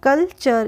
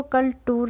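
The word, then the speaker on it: culture: ई हो गया चर तो इसका टीयू आर ई जब आता है तो टीयू आर ई का प्रोनाउंस एशन होता है चर क्या होता है इसको हम करेंगे चर तो कलचर इसको पढ़ेंगे हम कल्चर इसको कल टूर नहीं पढ़ेंगे इसी तरीके से एन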